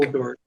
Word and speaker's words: Snorkeldork: Okay, dork is the word. Yeah. Okay. Not dwarf. Dork. Snorkeldork. Yeah.